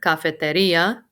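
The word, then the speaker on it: cafetería: the library la cafeteria your emphasis is on the i in this word cafeteria your english-speaking brain probably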